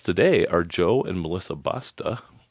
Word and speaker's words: Basta: My guests today are Joe and Melissa Basta. Sounds like or rhymes rhymes with pasta.